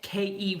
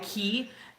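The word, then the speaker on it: cay: it should be pronounced you kind of can't rhyme day with key so anyway um thank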